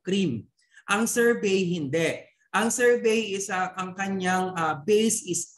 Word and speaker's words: sorbet: We have here the sorbet, okay, or sorbet, pero you pronounce it sorbet.